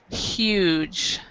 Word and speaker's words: huge: big is huge so we actually pronounce the h in this one huge okay perfect perfect and